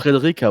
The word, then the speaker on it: Frederica: Are you sure you don't just Frederica would be spelled with a K? No, not not necessarily if it's in the Latin tradition because in Latin the C is pronounced as a K.